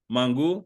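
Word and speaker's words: mangú: Darian says Dominican and Mangu.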